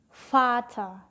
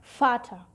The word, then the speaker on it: Vater: Dibacanya seperti F, tapi ada U-nya di belakangnya jadi V. Gigi atas ditempelin ke bibir bawah jadi V. Contohnya adalah Vater, artinya adalah ayah, Vater.